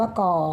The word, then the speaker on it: ก: ก ไก่ นะ ลูก ก ไก่ อ่าน ว่า ก่อ อย่า ช้า รีบ รูป